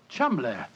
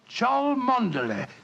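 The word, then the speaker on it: Cholmondeley: And being an American, he had no reason to know that the name Chumley is in no way pronounced the way it is spelt. Oh, Joe, I never thought of that. Chumley.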